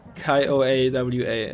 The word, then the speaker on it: Kiowa: what we just wrote it's pronounced kayo AWA is like one word which is kind